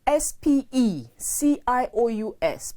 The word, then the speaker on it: specious: means having ample space it is different from s p e c i o u s pronounced specious which means deceptive it